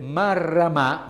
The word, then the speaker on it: Marramà: Abbiamo dunque sentito Giuseppe Marramà, quindi con l'accento sulla A, ricercatore dell'Università di Torino.